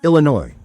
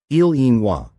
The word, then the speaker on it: Illinois: elegant sound, something like ilinwa. But when the word traveled into English mouths, the French nuance was stripped away. The silent s remained, but the pronunciation shifted, hardening into ill in oi.